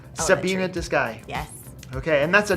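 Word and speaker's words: Tsébiinidzisgai: Can you do a real quick lesson on how to pronounce the name of your elementary school? I can try. Okay. It's Sabina de Sky. Sabina de Sky.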